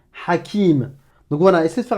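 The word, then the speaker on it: حكيم: Si tu me prononces que la voyelle, si tu me dis A comme Hajj, Alouf, Aram, Halal, Hakim, là c'est pas bon.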